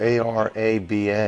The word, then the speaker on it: Araba: Isaac is that you no I think it's a r a b a or is that Roba hello hi what's your name araba okay araba